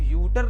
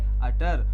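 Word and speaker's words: utter: मैंने जो ये वर्ड लिखा है, इसको हम लोग यूटर नहीं पढ़ेंगे, इसको क्या पढ़ेंगे? अटर।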